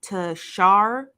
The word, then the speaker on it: Tashaw: So yesterday we discussed him and it's, I believe her name is pronounced, because you guys had corrected me a lot. It's Tashaw is her name.